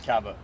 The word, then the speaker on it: caveau: The French pronounced it caveau.